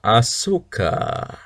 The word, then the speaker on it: Ashoka: let's find out 12 ahoka or as I like to say Ashoka I think I'm there's two different ways to pronounce it I think Ashoka is probably even more accurate one but uh let's